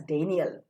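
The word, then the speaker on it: Dan'l: always Dan apostrophe l this is to be pronounced as Daniel it's a noun and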